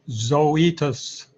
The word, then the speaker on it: Zoetis: the impact of leverage we pronounce that one zoetis so etus yeah and it's still